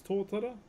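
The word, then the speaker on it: totara: Uh, this is torta. T O T A R A is how you spell it.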